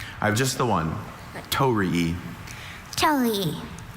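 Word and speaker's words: torii: Tori Are there any alternate pronunciations? I have just the one tori.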